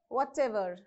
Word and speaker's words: whatever: however okay whatever so you have to stress on the ever part right however whatever okay so next selfers